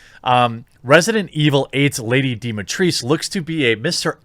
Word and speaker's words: Dimitrescu: absolute absolute destruction now for fun it's actually pronounced lady dematrice a lot of people are out there uh